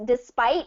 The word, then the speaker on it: despite: Despite is second syllable stress.